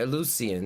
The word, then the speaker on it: Eleusinian: All right, Eleusinian.